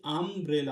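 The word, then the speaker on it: umbrella: এটা এখানে ইউটা উচ্চারণ হচ্ছে আ এর মত। আমি বলছি আমব্রেলা।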